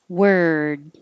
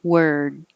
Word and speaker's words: word: light and very quick word this is the er sound even though it's spelled or word and number eight you